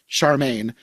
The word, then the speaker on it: Charming: Which apparently is spelled just like Prince Charming, but they pronounce it like Prince Charmaine because Oh I my looked up the gosh.